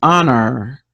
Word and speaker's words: honor: word an elephant word you have to remember it starts with a silent letter honor and the next one